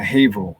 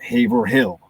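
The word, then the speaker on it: Haverhill: The thing is Boston is extremely territorial and so like I had to understand the pronunciation of a Worcester or a Haveril, not Haver Hill, you feel me?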